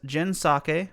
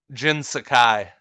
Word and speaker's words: Jin Sakai: Last of Us Part 2, Daisuke Tsuji as Jin Sake from Ghost of Tsushima. I probably butchered that a little bit. Jin Sakai.